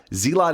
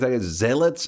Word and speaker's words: zealot: zealot I know but zlot is how I've always said it when I was playing starcraft back in the day the zelots would be zealots is I know is how people pronounce it don't we don't